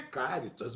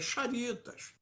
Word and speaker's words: Charitas: Porque Charitas é com CH. Então a pronúncia não é Caritas, a pronúncia é Charitas.